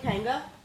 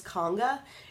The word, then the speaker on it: Kanga: But people say my channel is pronounced Loves Conga. It's Loves Kanga.